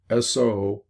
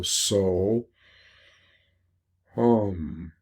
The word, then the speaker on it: Soham: what those would be either the Soham, S-O-H-A-M, Soham. And when you breathe in with this mantra, you go So, Hum. Breathe out with Hum.